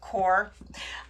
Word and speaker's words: QoR: it's about qor but you pronounce it core when you were saying